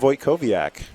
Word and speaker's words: Wojtkowiak: Wojtkowiak. Nailed it. Wow. We've known each other for a while. It's okay. I'm impressed. Just pronounce the W's like V's and everything's fine.